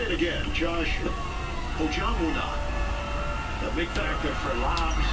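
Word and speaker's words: Josh Ojianwuna: The Bird did go out last night, practice pronunciation. Let's say it again. Josh Ojonwunu.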